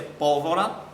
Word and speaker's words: pólvora: Apple Rorato Então se pólvora nada mais é do que uma proparoxítona é acentuada na antepenúltima sílaba uma bem fácil aqui estava nossas Idas e Vindas do nosso.